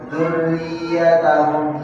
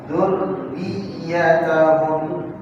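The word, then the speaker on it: ذُرِّيَّتَهُمْ: Tasydid juga sama. Bayang orang baca gimana? Ya, dzurriyyatahum hilang satu tasydid. Harusnya dzurriyyatahum ya. Jadi dzurriyyatahum dal tasydid, ya-nya juga tasydid.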